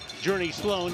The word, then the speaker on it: Journey Sloan: Journey Sloan, it starts with a G, but pronounce it like it's Journey, is the wide receiver.